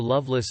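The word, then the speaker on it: Lovelace: name was Fanny Loveless this name pronounced uncore Loveless uncore is that of an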